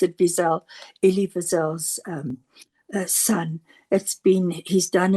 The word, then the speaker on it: Wiesel: And I heard the most wonderful YouTube by Elisha, I think you pronounce it Wiesel, Elie Wiesel's son.